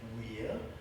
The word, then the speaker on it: vir: as its first syllable the word vir, V-I-R, or as my old Latin master used to say, weir, but he was a bit weird.